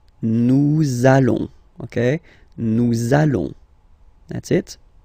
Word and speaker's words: nous allons: you will have to pronounce this z sound, okay? Listen to me. Nous allons. Nous allons.